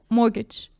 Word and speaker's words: mortgage: Credit like mortgage. Mortgage. Yeah. Mortgage. Wow. Like you're not pronouncing the T, is it?